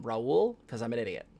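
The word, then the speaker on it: Raúl: like for the years i called a a puerto rican gentleman on uh facebook rawl uh when it was um raul because i'm an idiot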